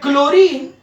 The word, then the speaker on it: chlorine: like calcium ca but chlorine now chlorine h is silent so that's why you